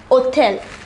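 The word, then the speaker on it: hôtel: h mute for example the word begins with a h mute here the word begins with h which is not a vowel however it is pronounced hotel the hedge here his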